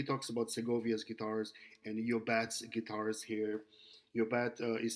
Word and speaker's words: Llobet: He talks about Segovia's guitars and Yobat's guitars here, Llobet is spelled Llobet.